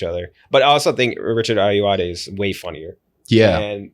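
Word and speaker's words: Richard Ayoade: cue I'm gonna pick and I believe in pronouncing right Richard ayuade right oh yeah that's a great haul that's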